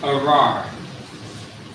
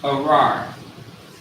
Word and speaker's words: arar: The word is arar. Arar, which means curse in Hebrew.